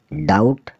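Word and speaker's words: doubt: यू बी टी डी ओ बी यू टी डाउट डाउट मतलब शक टी एच यू एम बी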